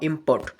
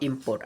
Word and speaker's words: import: IMPORT इम्पोर्टा जिते बड़े आमर नाउन भाव यूज करा जाउची आमे सेते बड़े फास्ट सिलेबल आसुची फास्ट सिलेबल उपर स्ट्रेस पड़ुची किंतु जेते इम्पोर्टा आमर भर भाव यूज करा जाउची इम्पोर्ट माने कोन भर जो आपनकर गोटे भर भाव यूज कराला गोटे क्रिया भाव यूज कराला से जगह सेकंड सिलेबल रे स्ट्रेस पड़ुची हैला इम्पोर्ट पोर्ट उपर स्पेस